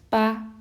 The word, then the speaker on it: 八: dinner with chopsticks at eight o'clock and it's pronounced as ba and number nine also only has two strokes